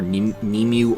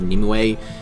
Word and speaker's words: Nimue: to Arthurian legend, but I've seen this name be pronounced either Nemu or Nimue, and granted, when it's pronounced Nemu, that comes from like 4Kids era Sonic games, so I take it with a grain of salt, but I personally like saying Nemu better than Nimue.